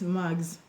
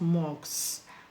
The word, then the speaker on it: mags: Mags, not mogs. Mags. Okay? The S is pronounced Z.